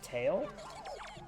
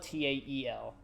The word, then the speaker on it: Tael: Oh, T-A-L-E. Not T-A-I-L. Well, they spell it Tael. Tail. Oh, Tael. Tile.